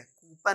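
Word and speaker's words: coupon: My dear learner, ये कूपन नहीं है, कूपन नहीं, कूपन। फिर DICTIONARY, बचपन से ही इसको हम गलत प्रोनाउंस करते आ रहे हैं माय डियर लर्नर्स।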